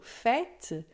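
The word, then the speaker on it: fête: circunflexo para você saber que a pron é aberta e que antigamente existia um s certo então a gente tem por exemplo fet que é festa é bet que é besta E todas as vezes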